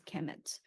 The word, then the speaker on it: Kemet: So it's KMMT, actually spelled just pronounced as Kemet, but it's actually written KMMT.